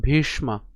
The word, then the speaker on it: ভীষ্ম: তদস মাকং পলং ভীষ্মা এখানে মূর্ধন্যস উচ্চারণ ভীষ অর্থাৎ মূর্ধন্য স এর উচ্চারণ হবে আমরা প্রথম ক্লাসেই বলেছিলাম তো উচ্চারণ কেমন ভীষ্মা ভীষ্মা বিরক্ষিতম কেন বিরক্ষিতম এখানে